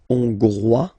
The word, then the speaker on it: hongrois: Okay, Hongrois, Grois, Hongroise. Okay, so here final S not pronounced for the masculine form, and then you pronounce it here for the feminine form.